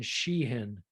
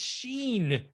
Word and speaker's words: Sheen: know me with names i'm always like a syllable martin sheehan you you tagged me on this trick you tagged me on this already when i mentioned charlie sheehan that's how i say it it's sheen that's i